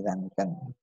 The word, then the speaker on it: Röntgen: Ternyata bacanya Henry Röntgen.